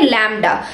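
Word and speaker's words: lambda: और इसको, ये ग्रीक वर्ड है और इसको हम कैसे प्रोनाउंस करते हैं? लैम्डा. So this is a Greek word pronounced as, Greek letter pronounced as लैम्डा.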